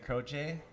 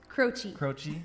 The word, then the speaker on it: Croce: And it is a song by Jim and Ingrid Croce, or how do you say? Croce, sorry.